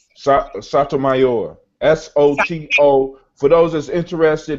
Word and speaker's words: Sotomayor: Sotomayor.